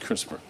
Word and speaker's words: CRISPR: There's no E in there, but I'm assuming it's pronounced CRISPR.